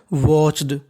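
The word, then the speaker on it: watched: एच वच इडी ड तो क्या बन गया वाच्ड वाच्ड वाच्ड का मतलब होता है देखना छठवां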